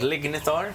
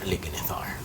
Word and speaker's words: Lignithar: It's called lignetar. L i g n i t h a r. Lithar. So now spell it again.